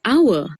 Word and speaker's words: hour: Similarly, the word hour starts with the consonant h, but begins with the vowel sound ow, so the h is silent.